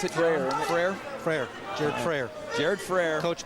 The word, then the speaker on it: Frayer: Is that how you pronounce it, Frayer? Frayer.